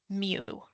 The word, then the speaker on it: mu: U, and it's pronounced mu. It's the Greek letter mu.